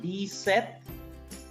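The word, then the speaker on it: dix-sept: I repeat, D set, P is silent, D set, this with, here X is placed, I told you, if S is placed between two vowels, S is pronounced as Z.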